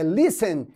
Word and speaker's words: listen: listening e observe que a pronúncia não é Listen é Listen porque o t está entre uma consoante uma vogal ele vai morrer e aí você não pronuncia ele nem sei que é